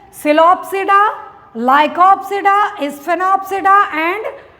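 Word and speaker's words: Psilopsida: सिलोप्सिडा, लाइकोप्सिडा, स्फेनोप्सिडा एंड टेरोप्सिडा। ठीक, P silent रहता है, आप देख रहे होंगे हर जगह पी साइलेंट है।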